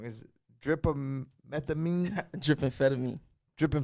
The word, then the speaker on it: Drippamphetamine: saying it wrong is drip methamine dripping fed at me dripping fed at but here's the easy way to say it drip is fetamy ah got you so